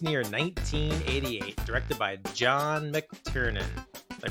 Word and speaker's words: McTiernan: This week's movie, Die Hard, released near 1988, directed by John McTiernan. Did I pronounce that correctly?